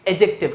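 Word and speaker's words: adjective: इट्स नॉट एडजेक्टिव, इट्स एडजेक्टिव। क्या पढ़ा जाता है, एडजेक्टिव। सभी लोग बोले क्या बोलेंगे, एडजेक्टिव्स। ए और जे के बीच में जब डी होगा हमेशा साइलेंट होगा, हमेशा क्या कहा जाएगा, एडजेक्टिव कहा जाएगा, नॉट एडजेक्टिव।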